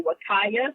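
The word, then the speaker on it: Huacaya: There's the Wakaya, and that's spelled with an H, not a W. It's a Peruvian name.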